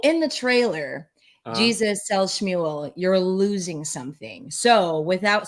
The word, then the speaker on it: Shmuel: And it's hard because it looks like, SHMUEL, like it can be said a bunch of different ways. Yeah. Just think of like Muel, like Shmuel.